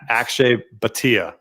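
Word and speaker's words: Akshay Bhatia: is you know exactly what I'm talking about Akshay batia actually I said it right there you go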